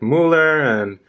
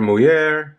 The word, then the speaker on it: Muller: He actually said, he saw a lot of watches, from brands like Frank Muller or Muller, if you want to pronounce it like that.